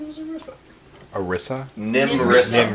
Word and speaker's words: Nimressa: the fort's name is Nimressa. Arissa? Nimressa. Nimrissa. like Nimrod. Nimerr. Nimr. Shit. That would be Nimressa.